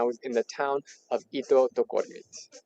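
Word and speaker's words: Ittoqqortoormiit: in the town of Itotokormit. Itokotomin. Itokortomin. It's just like you could also pronounce English words quickly, like eat, cut, duck, door, Meat. Eat kataktormit.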